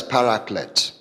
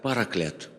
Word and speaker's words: paraclete: Now, in the Greek, В греческом переводе the word comforter is rendered as paraclete. это слово произносится как параклет.